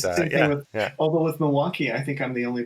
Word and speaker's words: Milwaukee: You sort of butcher that first, just like people from Milwaukee say Milwaukee. We just we get rid of that. I never noticed that about. It's very interesting. We just sort of get rid of that first syllable. We just sort of slur it like we're drunk. And yeah, it's true. It's very true. And Toronto because you're just tired of that syllable. You're just tired of it.